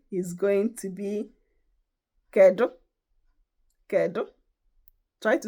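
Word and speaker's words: Kedu: Ko. Try to say it. Ko. I will spell it, but I'll spell it in English.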